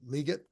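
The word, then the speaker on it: Legette: an issue um they also have Xavier um liot and that is how you pronounce it it's not liette it's liet Le liette um so he's he's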